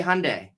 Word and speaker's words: Hyundai: I think Sunday, Fun Day, Hyundai.